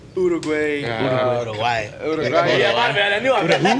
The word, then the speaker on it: Uruguay: I played in Uruguay. Uruguay.